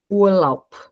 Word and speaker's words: Urlaub: Então, eu não leio ob. Não, eu leio op. Urlaub. Aqui eu coloquei um ponto só para a gente, é como se fosse como se eu estivesse separando sílabas, tá? Então, o som de B mudo, ele tem um som de P.